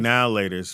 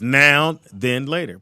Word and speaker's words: Now and Later: success but I think now laters for black folks even though it's not pronounced now later it's pronounced man then later no now the van frost its noun then later it's now then later pull it up read